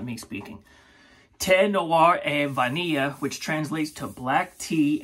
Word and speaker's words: Thé Noir et Vanille: It looks like it says, the Noir et Vanille. No, that's not how you say it.